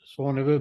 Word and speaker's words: Saône: Rhone and the Saône, they pronounce it like that in French.